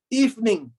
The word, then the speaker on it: evening: to move more efficiently evening is pronounced as evening not evening because there are two parts two syllables to the word evening evening good evening